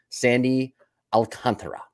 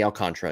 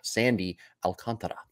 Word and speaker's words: Alcantara: an ace volume I think it's volume two Sandy Alcantara yeah the best way that's how you say his name by the way not Sandy alcantra it's Sandy Al Sandy Alcantara very nice Jim the best way here do